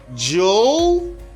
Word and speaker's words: jewelry: No, you just say jewelry. If it's not clear for you, let me know in the comment below if it's not clear for you. But you just pronounce this or all these letters as jewel and re.